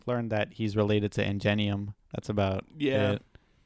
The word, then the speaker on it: Ingenium: We learned that he's related to Ingenium. That's about it. Is it Ingenium? I guess that's how you say it. Yeah. I say like Enignum. But it maybe Ingenium. This was just a dope name, by the way.